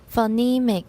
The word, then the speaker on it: phonemic: Phonemic. Just like, and I don't say phone either, I use a schwa.